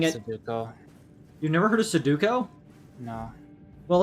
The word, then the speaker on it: sudoku: the name i didn't know a matter of mispronouncing letters you rearranged the letters in your mind it's not suduko it's sudoku yeah sudoku it's a duck face there's no